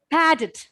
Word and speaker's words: padded: Then seventh word, padded. Padded. Padded. Padded. Stress should be given to the initial syllable.